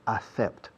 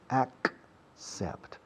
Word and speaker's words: accept: Fijaos cómo pronuncio accept. Tiene doble C. No es accept. It's accept.